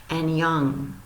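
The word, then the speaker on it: 안녕: You pronounce that annyeong.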